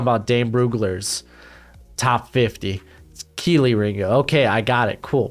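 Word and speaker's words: Kelee Ringo: get everyone got all butt hurt that said kylie ringo in my in the uh when i was talking about dame broogler's top 50. keeley ringo okay i got it cool pronoun mispronunciation's a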